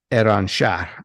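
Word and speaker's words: Iranshahr: What is Iran Shah? Am I pronouncing that correctly? Yes.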